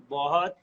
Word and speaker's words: बहुत: Boss, wait, break that down for me. बहुत बहुत. Bot, BOHT. बहुत.